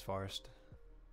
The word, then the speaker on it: Forrest: his name was forrest my name is farst oh why's everyone asking me what's my name yeah my name is forrest forest is how people pronounce it for some reason i say forest this camera is just